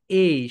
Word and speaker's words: A: শেখাই কি, এটাকে হচ্ছে এ বলি। কি বলি মাই ডিয়ার সোলজার্স? এ বলি। কিন্তু রাইট প্রোনাউন্সিয়েশন কি হবে বলো তো? এই।